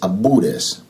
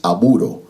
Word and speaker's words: aburo: They call themselves abures, but with 2 B's, abures. But the real pronunciation is aburo, which means sister or brother in Yoruba's contemporary language.